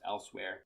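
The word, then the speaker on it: Elsweyr: moons of L else I think it's just elsewhere I know it's not spelled like elsewhere but I think that's how it's pronounced elsewhere and that releases June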